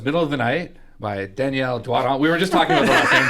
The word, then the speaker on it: Danielle Doiron: to, and I mean if people pronounce it English, that's fine, but it just would be so weird for me to be like, I'm Danielle Doiron.